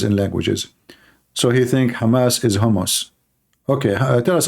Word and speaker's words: Hamas: heard about today the hamus hamus terrorist Trump he do not know how to say the word Hamas he called him hos he just called Hamas hamus Hamas what Hamas okay